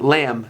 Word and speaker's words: lamb: as lamb weird right lamb we just say l-a-m but there's a b there you don't say it and det there's a